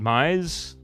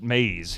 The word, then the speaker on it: maize: So you guys pronounce it Mize? Because we call it maze here. Maze, M-A-I-Z-E, would be the spelling.